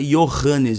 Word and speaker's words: Johannes: Tanto que no nome Johannes, por exemplo, você não pronuncia Johannes, você pronuncia Johannes em alemão, ou algo similar. Então, em alemão, nas línguas germânicas, o J tem som de Y.